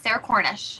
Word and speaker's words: Sarah Cornish: And in this giveaway, it is Sarah Cornish. I think that's how you pronounce her name. Is that right, Kathleen? Yes, Sarah Cornish.